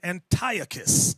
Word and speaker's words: Antiochus: Some people pronounce his name Antiochus. I've seen that on the Discovery Channel. Antio Antiochus tomato tomato.